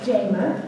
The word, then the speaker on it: Jama: very much good evening my name is Jamma pronounced JMA for some of you